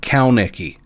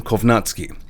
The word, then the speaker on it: Kownacki: keep leaving repeated comments saying say his last name caki his name is not caki that is a mispronunciation well and truly please don't leave those comments his name is Adam kovatsi number six Joseph Parker